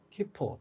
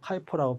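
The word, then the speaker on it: KIPO: 우리나라 특허청은 키포 또는 카이포라고 발음하는데 코리안 인텔렉츄얼 프로퍼티 오피스라고 이렇게 얘기하는데 이렇게 한다고 쳐봐.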